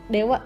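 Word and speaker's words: では: Oh ya ini disini meskipun ditulisnya masih DH tapi dibacanya Dewa ya sama kayak partikel tadi Hanya Jadi waktu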